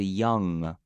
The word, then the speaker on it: young: But the way that you do it is like you have kind of a nasal sound. It goes inwards, 往内收的感觉. So it's young, like that.